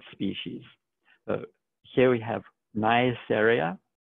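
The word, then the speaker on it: Neisseria: so here we have nice area that is how it's pronounced niaceria meningitis and the the specific names here are very important because they describe the disease that these organisms cause so niaceria is also a caucus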